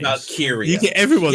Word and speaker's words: Valkyria: after distraction by Lara Valkyrie. I always mispronounce that. You're rubbish with names. Valkyria.